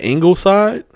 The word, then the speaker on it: Ingleside: Ingleside. And then Wharton gets Sinton. Is that Ingleside?